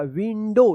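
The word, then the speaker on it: window: यहां पे ओ डब्ल्यू का आ उच्चारण ना हो के ओ उच्चारण होगा। विंडो इसको याद रखिए आप।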